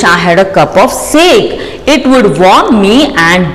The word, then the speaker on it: sake: Now, what is this sake? You can see here in the book. A popular Japanese drink that is pronounced like fa in father and k rhymes with way.